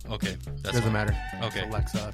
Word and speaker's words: Alexa: some point siri or alexis are going i know i'm like looking at you you said it wrong okay it doesn't matter okay alexa not alexis or yeah alexis is